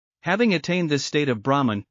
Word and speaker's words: Brahman: We encounter the word Brahman in this shloka, which is the concluding shloka in the second chapter of the Gita. As a side note, this word is pronounced as Brahman and not Brahman.